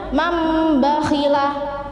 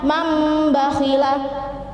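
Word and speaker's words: مَنْ بَخِلَ: Contohnya mambakhila, jadi tulisannya man bakhila, membacanya mambakhila, jadi non mati diganti dengan mim mati.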